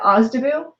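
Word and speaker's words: OSDBU: that's o s d b u and we pronounce that osda boom so um the ozdubu offices often will present um a procurement forecast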